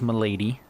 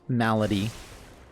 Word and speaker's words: Malady: lead off with the temple of milady i know it's pronounced malady i know i get